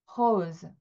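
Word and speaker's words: rose: 그런데 발음은 이렇게 나요. Hose 네.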